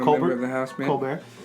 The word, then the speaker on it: Colbert: stephen colbert i'm covered in the house man colbert culvert are we allowed to say israel this is you can really pronounce it i mean well it's actually a